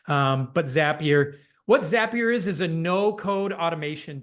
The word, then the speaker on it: Zapier: throw out uh, and Zapier is one that coined this. Um, rhymes with happier if you need to know how to say it.